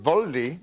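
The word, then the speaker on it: Waldi: Yeah, Waldy, I think you'd pronounce it Voldy.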